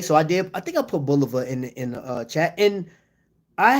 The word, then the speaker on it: Bulova: And I understand some people, you know, I guess the correct pronunciation is Bulova, but Bulova sounds more comfortable to me. I'm more comfortable saying Bulova.